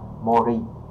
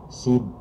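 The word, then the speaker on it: 森: Rồi, và âm nhật của chữ sâm này ha thì mình sẽ đọc là mori ha các bạn, đứng một mình có nghĩa là khu rừng ha.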